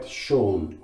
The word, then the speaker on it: Schöne: And if I remember right, Schöne would be the way to pronounce that. I could be wrong though.